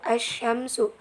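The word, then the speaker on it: الشمس: Alif Syamsiah nya itu as Syamsu Syamsu Al ram-nya ditulis tapi tidak diucapkan contoh yang kedua arrojulu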